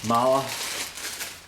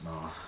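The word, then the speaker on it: Mahle: These are Mala. That's how I pronounce it, Mala.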